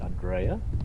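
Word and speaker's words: Andreja: it this Andre but maybe the J is pronounced as a y so it would be Andrea you make sense since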